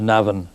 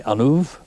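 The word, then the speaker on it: An Uaimh: There is no such place as Navan, County Meath. There is only Anuv.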